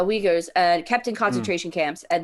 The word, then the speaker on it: Uyghurs: muslims kept in the i believe it's pronounced the uruguay's um kept in conservation camps thank you uh uyghurs and captain concentration camps